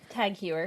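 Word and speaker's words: TAG Heuer: Tag Huer. Tag Huer.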